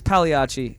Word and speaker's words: Pagliacci: No Way featuring Phoenix Pagliacci. Is that how you pronounce it? It's Pagliacci. Oh, okay. Like the clown, actually, if you're thinking about it.